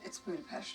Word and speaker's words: Budapest: Some mail and personals from the Budapest safe house. Budapest? Yeah, Budapest. No, it's Budapest. Budapest. Budapest. Budapest. Yes, Natasha is using the Hungarian pronunciation, calling back her exchange with Hawkeye in Avengers.